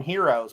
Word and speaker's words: gyro: euro wait do you is it a hard g or is it something else i call it the g silent i've always called them euros well in kane city we called them heroes because geraldo starts with a